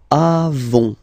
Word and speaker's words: avons: Then, nous avons, final S not pronounced, avons, okay?